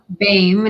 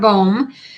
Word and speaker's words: Bame: yes that is correct it is Bame not bom um probably years ago